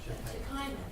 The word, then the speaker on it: Shekinah: Shekinah, that's how you say it.